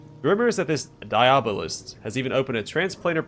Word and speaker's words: Diabolist: A file under Diabolist. Diabolist. Had the emphasis on the wrong... what's the word? I'm drawing a blank. Syllables.